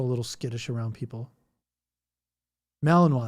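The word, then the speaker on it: Malinois: Malininoa. That's it. That's how you say it. Malininoa.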